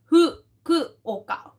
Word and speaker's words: Fukuoka: किया है तो वो देखिए How do you pronounce Fukuoka? Fukuoka.